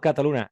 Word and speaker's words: Cataluña: que empezamos ya bueno Don Ricardo cataluna es la primera vez y la única que lo voy a pronunciar bien tu nombre porque ya sabes que